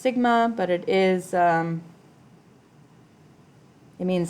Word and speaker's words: sigma: This is pronounced sigma, but it is, it means summation.